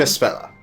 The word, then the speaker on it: Espella: Espella. It's an A, but it's supposed to be pronounced as an E.